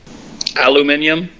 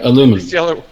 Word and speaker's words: aluminium: do you want color aluminium yeah aluminum no I hate I hate to say it aluminium is actually probably the more precise way to say it but I hate